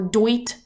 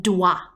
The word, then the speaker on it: doit: And they're not pronounced dois or doit. Imagine that they're pronounced or spelt like D-W-A, doit, okay?